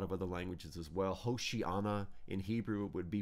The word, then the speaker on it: Hosanna: course a lot of other languages as well hoshii Anna in Hebrew would be pronounced and it means save us save us